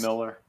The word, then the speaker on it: Millar: It's Millar. But I think it pronounces is. it Miller.